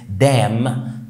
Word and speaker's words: damn: عندنا كمان الام مع الان، دايما برضو الان ما بتتنطقش، في كلمات زي column يعني عمود، column. وفي كلمات مثلا زي كلمة damn يعني معناها اللعنة، او